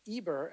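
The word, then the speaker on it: עבר: Shem being Noah's son, and Aver, or Eber, as you guys tend to pronounce it, is the great grandson of Noah.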